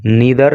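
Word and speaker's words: neither: परिणाम आए उनके अनुसार नीदर ना तो इसको नादर भी बोल देते हैं नीदर भी बोल देते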